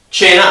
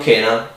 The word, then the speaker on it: cena: When the C is alone, it's more it's more likely that it sounds like ch. When it's with another C or an H, it's more likely that it's spelled k, like K. Okay, so k.